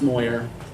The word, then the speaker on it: Moyer: It is pronounced Moyer.